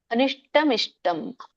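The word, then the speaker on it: अनिष्टमिष्टं: ಕವಚತ ಇದರ ಒಂದು ಉಚ್ಚಾರಣೆ ಅನಿಷ್ಟಮಿಷ್ಟಂ ಅನಿಷ್ಟ ನೋಡಿ ಮೂರ್ಧನಿಷ್ ಅದೇ ಇದೆ ಸೋ ಸ್ವಲ್ಪ ರೋಲ್ ಮಾಡಿ ಹೇಳಬೇಕು ನಾಲಿಗೆನ ಅನಿಷ್ಟಮಿಷ್ಟಂ ಬಿಡಿಸಿದಾಗ ಅನಿಷ್ಟಂ ಇಷ್ಟಂ ಅಂತ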